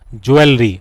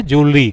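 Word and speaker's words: jewellery: बोलते क्या है ज्वेलरी नॉट ज्वेलरी तो इसका करेक्ट प्रोनंसिएशन है ज्वेलरी ज्वेलरी जो वर्ड है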